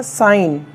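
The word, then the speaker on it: sign: तो तो dear viewers जब भी जी के पश्चात या बाद में एन आ जाता है तो उस कंसन में जी साइलेंट हो जाता है तो जैसे एस आई जी एन क्या हो जाएगा साइन साइन करना हस्ताक्षर करना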